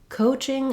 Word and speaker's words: coaching: for the word coaching so coaching again has first syllable stress um letter c says the k sound uh this o in american english we do often spell it with o a or with o plus an e for an exam for example in a word like road he rode his bicycle um it is a diphthong so in english oh